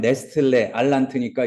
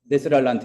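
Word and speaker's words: Nestle-Aland: 잠깐만, 네슬인데 이게 스펠링이 정확히 얘기하면 네스틀레 알란트니까 이게 원래 독일 사람이기 때문에 스펠링이 복잡해요. 근데 내가 복잡한 스펠링 모르는 거는 나도 알고 로고스도 알아요. 그러니까 약어로 들어갈 수가 있다는 얘기예요. 그러니까 NA28이라고도 하잖아요. 네슬 알란트 28. 정확히는 네스틀레 알란트 그런데 NA28이라고 써보세요.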